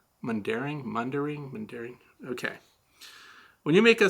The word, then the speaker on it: Mundaring: Did I pronounce that right? Mundaring.